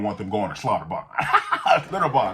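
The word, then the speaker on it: Schlitterbahn: Slaughterbarn, that's how you say it.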